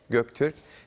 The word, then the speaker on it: Göktürk: This is Korean pronunciation, but in Turkish pronunciation is Göktürk.